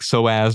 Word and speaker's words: psoas: The P is silent, like pterodactyl. Oh, cool. Yeah, like psoas muscle.